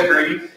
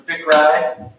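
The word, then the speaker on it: Bichri: Vickery. Vickery. That's closer to what I was. Well, in the English language, CH is pronounced in a certain way.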